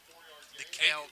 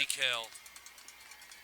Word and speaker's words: Dekel: DeKel Kennedy is how they pronounced it. DeKel.